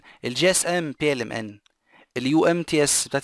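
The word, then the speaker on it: PLMN: وديت بي ال ام ان مش بيلمن، في ناس بتقولها بيلمن وبستن، مش صح الكلام ده، ماشي؟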